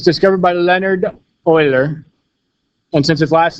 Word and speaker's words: Euler: is right here EU le AR it's actually pronounced Euler though attentions not American so it's discovered by the Leonhard Euler one since his last name started with an